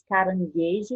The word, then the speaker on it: caranguejo: Em palavras como gula, a letra U é pronunciada. Já palavras como guitarra e caranguejo, a letra U não é pronunciada.